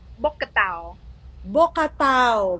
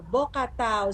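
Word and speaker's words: Bokator: So for foreigners, they have a hard time, pronouncing it. Actually, it's called Bocatao. Bokatao.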